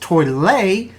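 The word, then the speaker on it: Tollette: A little more traffic but still light at toilet. Oops, I guess that's pronounced toilet.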